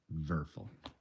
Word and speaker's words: Werfel: by franz verfel it's it's w-e-r-f-e-l but in german the w's are b so i'm pronouncing it verbal and again i think